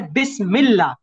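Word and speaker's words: بسم الله: जाता है मज हो जैसे बिस्मिल्ला अब मिला जब पढ़ तो मीम के बाद लाम की आवाज आई अलिफ तो प्रोनाउंस नहीं हुआ जी जी सर जी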